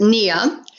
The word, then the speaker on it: Nia: start with nia yeah we would pronounce it nia like your knee but we use more than your knee n nia um nia is a